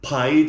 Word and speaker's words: pide: How do you say it? Pide. Oh, pide.